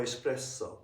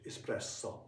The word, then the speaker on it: espresso: Or espresso. I checked, I asked the Italian friend. He said that the pronunciation espresso. It's not espresso. There's no oo.